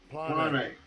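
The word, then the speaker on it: πλάνη: Strong's G4106, Plane. And that's how it's pronounced in the Greek.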